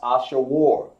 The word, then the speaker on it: Ashur: It looks like Ashur, because that's what it is. But it's pronounced Ashawar.